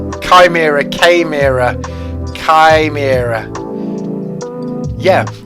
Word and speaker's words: chimera: chimera came era chi mira yeah i've had people pronounce it chimera or chimera pronouncing the ch but it's like chi ah i'm pretty